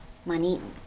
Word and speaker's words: MontEton: MontEton. Okay. Accent on the second syllable there. Okay, with 3 syllables.